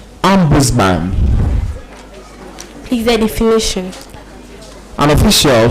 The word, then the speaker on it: ombudsman: I think you listen to the British pronunciation very well. That is ombudsman. And then the other alternate pronunciation is ombudsman.